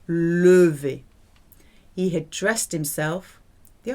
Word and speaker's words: levé: Remember, E with no accent on at the end of a syllable, levé.